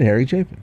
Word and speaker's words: Harry Chapin: See, he said Harry Chapin.